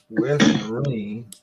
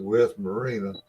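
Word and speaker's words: West Marine: it going into the western marine which he still ain't pronounced right he calls it west marina and he had you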